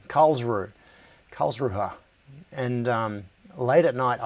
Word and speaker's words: Karlsruhe: in a city called I can never pronounce this, I can't get it quite right. I can't get the R right. So I'll say it the English way, Karlsruhe.